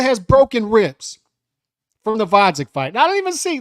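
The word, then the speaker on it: Gvozdyk: Against Vodzik with a silent G, fellas.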